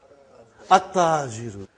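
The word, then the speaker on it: التاجر: How will you pronounce this now? At-tajiru. You did not pronounce lam. Okay, you did not pronounce. You skipped it.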